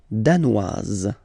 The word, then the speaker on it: danoise: Le Danemark, danois, danoise. Z, okay, insist on that. Danois, don't pronounce the final S. Danoise, here you pronounce it.